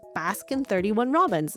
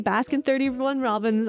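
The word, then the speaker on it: Baskin-Robbins: The second place I was able to visit was Baskin 31 Robbins. Now, every time I say Baskin 31 Robbins, I know my chat is going to come after me and say the 31 isn't actually pronounced, but I still think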